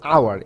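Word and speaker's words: hour: কিছু শব্দ রয়েছে যেমন আওয়ার এখানে এইচ এর উচ্চারণ হচ্ছে না আবার একইভাবে এয়ার এখানে এইচ এর উচ্চারণ হচ্ছে না এই আই আই আর এয়ার মানে হচ্ছে উত্তরাধিকার।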